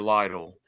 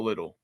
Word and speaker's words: Lytle: Okay, everybody gets my last name wrong. It's Lytle, not Little.